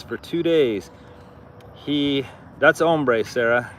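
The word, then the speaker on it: hambre: So it and if we pronounced it in English it would be hamre or something like that but they don't pronounce the h if it's at the beginning of a word.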